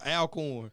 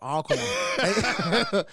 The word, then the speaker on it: Alcorn: I first met JJ, I said Alcorn. No, Alcorn. Hey. They don't want you to pronounce the whole thing. Boy, hey, he got on my top too. Hey, you gotta cut that thing in half, man.